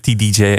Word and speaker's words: TDJ: I guess that's how you say it, TDJ, the album.